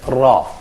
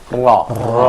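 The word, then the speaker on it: ر: So we say ra, ra. I think that there is a kind of vibration here happening in our vocabularies.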